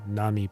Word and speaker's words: Namipon: Namipon. Go ahead. Namipon. Namipon. It puts a bit of emphasis on the po, on the P.